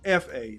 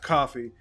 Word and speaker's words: Kofa: My name is my name. Kofa, not coffee, not kufu, not Kofi, or any variation thereof. Kofa rhymes with sofa.